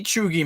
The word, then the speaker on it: cheugy: Cheugy. This is pronounced cheugy.